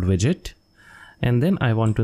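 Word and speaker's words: wget: curl whim get widget and this is not pronounced as wgate it is called widget and then i want to install development tools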